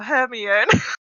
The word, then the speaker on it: Hermione: And then she immediately went, so Hermione. The crazy thing is, I've seen every film a million times. I just can't pronounce names.